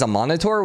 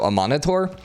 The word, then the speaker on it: Amanitore: Also, apparently, I ended up doing some pronunciation stuff on Google, and it says Amanitore, which actually makes sense because it's M-A-N, man. So Amanitore is apparently how you pronounce it, but I don't know.